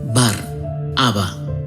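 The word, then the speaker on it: Bar-Abba: su plan de salvación el nombre de barrabás que pronunciado en arameo es bar haba significa hijo del padre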